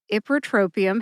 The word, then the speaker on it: ipratropium: the key to Mastery ipratropium has five syllables IP like hip R like rough draft tro like Trojan like